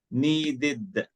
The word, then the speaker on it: needed: or da, end in, like this one, visited, id. Why id? Because here the last letter T, or the last sound T, ta. Here the last letter D is pronounced da. That's why here visited, needed.